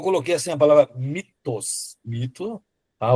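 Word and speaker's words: μ: É que na verdade você escreve ele que é em grego, né, com o com muu, mas não é mu. É como se fosse, se tivesse falando até em francês, eh, seria mais assim, me tá, e não mi.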